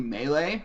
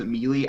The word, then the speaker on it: melee: came out I was trying pronounce melee melee okay some people do pronounce it melee yes but people were saying like is it I was like yeah no it is I think it is properly melee but there are people who pronounced Amelie I think that's more of a regional thing it probably shouldn't have